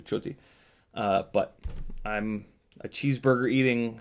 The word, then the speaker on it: Ciotti: It's actually in Italian. Ci is the pronunciation is ch. So my last name is in Italians get pissed when I say it's Ciotti because that's the American way of saying it. It's actually Ciotti.